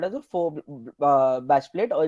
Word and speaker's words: faux: So now the bash plate over here on the front is actually called as a faux bash plate, or it's spelled as FAUX, which means a false bash plate.